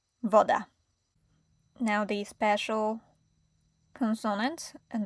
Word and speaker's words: woda: And the letter W, V, it sounds like W in water. Woda.